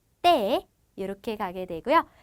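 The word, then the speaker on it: te: 그리고 때는 쌍디귿의 발음을 가지게 됩니다. 그래서 엘에, 에세, 때 이렇게 가게 되고요.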